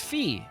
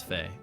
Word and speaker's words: Faye: Sometimes I look at it, I'm like, it's Fee. But no, it's Faye.